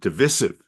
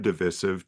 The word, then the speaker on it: divisive: like to pronounce it divisive which sounds British but British people have never heard divisive to them it's divisive um the other example